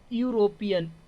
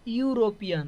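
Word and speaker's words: European: elephant क्या हो जाएगा एन एलिफेंट हो जाएगा यूरोपियन यूरोपियन तो क्या हो जाएगा ए हो जाएगा वन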